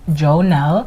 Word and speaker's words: Jônelle: single social media platform at underscore i am joe nell and that is spelled underscore i a m j o n